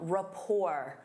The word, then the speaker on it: rapport: Instead of saying they work well together, you can say they have a strong rapport. Notice that T is silent.